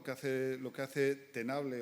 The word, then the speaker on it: Tenable: por centrarnos lo que hace lo que hace tenable o tenable que es como se pronuncia en inglés igual nos conocéis mucho más